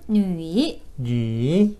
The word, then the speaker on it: 女: 발음 뉘이 뉘, 뉘이 뉘, 뉘이 뉘.